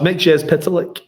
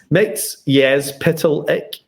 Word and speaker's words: Mxyzptlk: Mxyzptlk. I like being out there in the background and nobody can stop me. So it's not. I always say Mxyzptlk. Oh, it's Mxyzptlk.